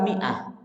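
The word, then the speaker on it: مائة: Tulisan mi'ah, ternyata mimnya itu ada alifnya. Tentu ini, bagi yang tidak memahami kaidah-kaidah Rasul Usmani akan bingung bacanya. Karena biasanya kalau ada huruf tambahannya alif Pak, itu bacanya bukan kasroh juga bukan dhammah. Berarti bacanya apa? Bacanya fathah. Ya. Tapi ternyata bacanya mi'ah.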